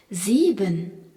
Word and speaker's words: sieben: qui se prononce Z, ainsi que le I prolongé par un E qui est un I long. Sieben. Et EN à la fin, qu'on retrouve souvent à la fin des verbes et qui se prononce EN.